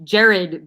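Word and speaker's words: Jerryd: lottery pick oh did Keith bogans play no it's spelled j-e-r-r-y-d Jared Bayless and Noah okay okay what about yeah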